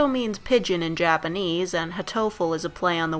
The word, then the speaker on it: Hatoful: pigeon in Japanese and hatoful is a play on the word hartful but the Japanese pronunciation is phonetically identical to hurtful so let's go with